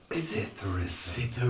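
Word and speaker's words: psithurism: Cytherism. Spelled with a P.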